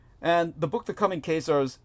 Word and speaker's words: Khazar: it, the correct pronunciation, because Khazar in the Latin is pronounced just as if it's with a K, Khazar, and that's where